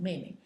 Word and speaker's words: 妹妹: 姐 is J-I-E, and your younger sister is 妹妹, and it's this is 妹, and again it's written as a different pronunciation in the fourth tone, 妹妹.